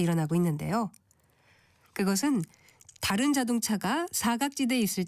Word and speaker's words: 사각지대: 사각지대에서 사자는 죽을 사자를 쓰는데이 한자는 4와 같이 길게 발음하게 돼 있어서 사각지대가 아니라 사각지대라고 길게 발음합니다.